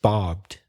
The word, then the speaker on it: barbed: you know he's pronounced barbed it's one syllable and you pronounce the e but you shouldn't because II D usually in the majority of cases the ear silent barbed wire my men also